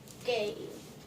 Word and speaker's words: gi: It's pronounced gi.